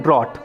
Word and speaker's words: drought: हो जाता है और सूखे को हम इंग्लिश में कहते हैं ड्रॉट। स्पेलिंग है डी आर ओ यू जी एच टी।